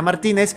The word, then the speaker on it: Martínez: Efectivamente, sí, Martínez, hombre.